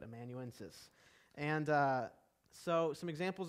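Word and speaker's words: amanuensis: known as a um i always say this wrong but immanuensis is how you say it emanuensis and uh so some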